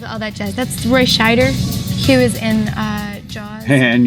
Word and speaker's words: Scheider: It's Scheider, not Schneider.